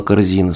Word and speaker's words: Корзина: Ее фамилия была Корзина с ударением на У. Но учителя запомнили этот нюанс не сразу. И даже подруги постоянно звали ее Корзиной или Корзинкой с ударением на И.